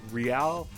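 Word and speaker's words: Re-l: So the main story focuses on two characters, Real and Vincent. Real is spelled R-E-L, but it's supposed to be like real.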